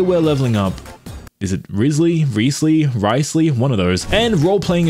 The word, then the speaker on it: Wriothesley: Risley is how you want to say it.